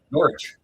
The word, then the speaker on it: Norwich: Uh, Norwich. It's pronounced like a W and R like silent.